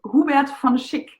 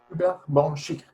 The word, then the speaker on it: Hubert von Schick: I will pronounce it very German now for you. Okay. It's he's called Hubert von Schick. Hubert von Schick.